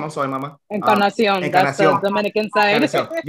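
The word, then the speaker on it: Encarnación: Encarnacion.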